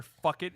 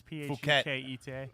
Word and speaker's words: Phuket: I'm sure "fuck it" is not the right way to say it, but it's Phuket.